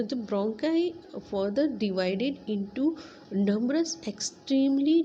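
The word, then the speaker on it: bronchi: तो वैसे इसको ब्रोंकाई इसको कहते हैं, लेकिन इसको कई लोग ब्रोंजी भी कहते हैं। ठीक है, तो मैं इसको ब्रोंकाई ही कहती हूँ, और ब्रोंकी भी कई लोग इसको कहते हैं।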